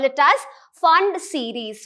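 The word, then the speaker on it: Pfund: P is silent and you call it as Fund series. Fund series are the electrons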